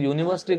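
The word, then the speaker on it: university: लेकिन यूनिवर्सिटी को अगर आप देखोगे तो इसका जो साउंड है वो यू से स्टार्ट हो रहा है और यू जो है वो इनके बीच का हिस्सा इनके बीच का हिस्सा नहीं है। इसका मतलब है ये साउंड किसका कर रहा है? कोंसोनेंट का। वाई यू का साउंड है।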